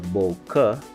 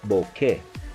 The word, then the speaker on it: bokeh: mispronounced as bouquet or bokeh it is correctly pronounced as bouquet as the word originates in Japan it is used to